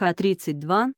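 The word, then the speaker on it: Х-32: противокорабельных ракет и х32 ее название произноситься как х32 это крылатые ракеты воздушного базирования класса воздух-поверхность с дальностью поражения в шестистах ?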